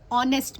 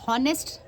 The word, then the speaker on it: honest: मैंने वर्ड बोला ऑनेस्ट, ओ की आवाज़ आ रही है आपको, किसका साउंड है? AEIO, ओ का साउंड है ना, ओ। तो बट इसकी स्पेलिंग तो आती है HONEST, इसमें H जो है साइलेंट है। क्या है? साइलेंट है। बट उसकी आवाज़ नहीं आ रही, H का ह नहीं आ रहा, हॉनेस्ट वर्ड नहीं आ रहा, आपको आवाज़ किसकी आ रही है? ओ की।